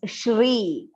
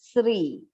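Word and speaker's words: श्री: mane here you will see it is shri please do not pronounce it as sri okay the next mistake that commonly we hear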